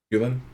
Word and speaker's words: Hulen: Hulen, okay, like the Hulen Mall."